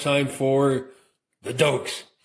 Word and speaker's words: Doak: But if you say Doke, you got to say it properly. How you say Doke? Doke! That's right. Doke. It's like someone just goosed you, just sat on something like that.